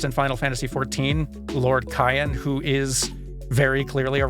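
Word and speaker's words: Cyan: also goes with like the hard like k sound Cayenne I'm I am almost positive that Cayenne is correct for this guy but old habits it's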